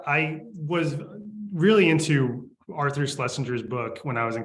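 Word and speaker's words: Schlesinger: was really into Arthur slessinger's book when I was in college or schinger I think is how you actually pronounce his name son slesinger uh and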